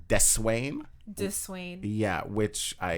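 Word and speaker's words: Deswayne: w a y n e so it's technically pronounced de swain du swain yeah which i hear a lot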